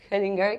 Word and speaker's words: Hellinger: Uno de los órdenes que habla Bert Hellinger, que es alemán. Lo pronuncia así porque ya sabe alemán.